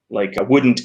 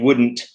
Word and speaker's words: wouldn't: Like wouldn't it? People don't generally pronounce the T in wouldn't. It's just wouldn't it, right?